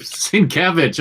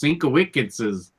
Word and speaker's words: Sienkiewicz: Sienkiewicz. I learned that from Riley. Okay. Yeah, this is a tough one right here. I used to think it was Sienkiewicz.